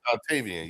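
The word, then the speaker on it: Dontayvion: Dontavian, I said Dontavian, yeah.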